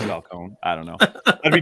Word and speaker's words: Falcone: i don't know why i said that falcon because his name is falcone i don't know i'd